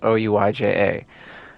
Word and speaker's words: Ouija: Ouija is spelled O-U-I-J-A, and it's pronounced Ouija.